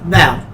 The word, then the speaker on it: Val: She says Val. Val. Val. Come. Makes it simple. Way out. One syllable, short and sweet.